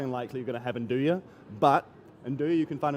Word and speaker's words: nduja: spices, it's highly unlikely you're going to have nduja.